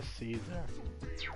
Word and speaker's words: Caesar: So, okay, Akihiko's evolved into Caesar. Okay. Yeah, if you want to pronounce it like Kaiser, like a Z.